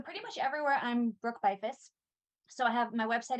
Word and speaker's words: Beyfuss: spell your last name since it doesn't it does not pronounce exactly how it's how it looks and social media website all that good stuff so pretty much everywhere i'm brooke byfus so i have my